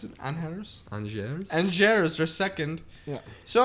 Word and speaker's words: Angers: Anhers, is that how you pronounce it? Anhers? Angers.